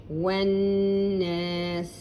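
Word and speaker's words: وَالنَّاسِ: Wan-nas. Waw with a fatha. Alif, you won't pronounce it. Lam, you won't pronounce it.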